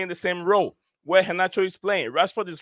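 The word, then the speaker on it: Garnacho: you look at it it's gacho but it's pronounced haach H yeah oh yeah about the Argentinian Winger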